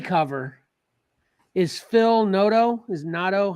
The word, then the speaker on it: Noto: is Phil Noto is Noto how do you say that Phil Noto nodo yeah okay but these